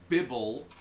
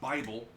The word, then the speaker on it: Bibble: By the way, y'all have been pronouncing it wrong the entire time. It's Bibble, named after my dog. I keep on forgetting because y'all kept on mispronouncing it as Bible.